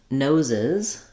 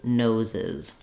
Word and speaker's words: noses: talking about several people's noses then we have to add a full syllable um so to make nose plural we add the I sound and another z sound so this happens because